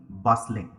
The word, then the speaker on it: bustling: word repeat after me busling busling stress is on the first Sy busling busling okay busling